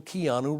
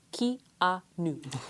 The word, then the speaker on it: Keanu: And then thirdly, it's still Keanu Reeves.